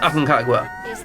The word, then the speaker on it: Aconcagua: Señor, puede venir a It is pronounced Aconcagua.